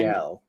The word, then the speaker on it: Gal: Gal. It's not Gail. I'm pretty sure you pronounce it Gail. Really? Yeah. I'm like 99% sure.